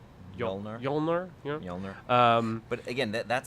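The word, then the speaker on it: Mjölnir: she destroys the hammer yep right which is pronounced jolnir Illinois owner but again that setup is all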